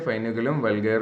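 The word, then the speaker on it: Foeniculum vulgare: और इसका प्रोनाउंस कैसे कहते हैं, फाइनिकुलम वल्गैर कहते हैं, belonging to the family Umbelliferae.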